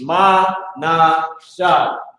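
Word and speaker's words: מנשה: And this is how you say it in Hebrew. It's Ma-na-shah.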